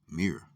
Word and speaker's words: mr: Egyptian name for Pyramid which is Mr pronounced says mirr the literal translation of mirr